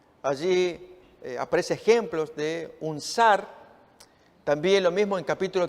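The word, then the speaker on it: שַׂר: estudio de la palabra sar que nos ayude a entender que tenemos se usa 4 421 veces en el hebreo está escrito en hebreo se pronuncia zar y es una oficial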